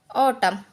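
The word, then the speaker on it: autumn: जैसे ऑटम, ए यू टी यू एम एन, यानी कि एन हमारे यहाँ पे साइलेंट है तो हम इसको पढ़ेंगे ऑटम।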